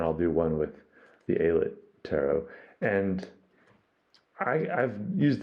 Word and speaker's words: Aylett: last year and I'm pretty sure it's Ayla not eyelid but I kept saying islet so I messed up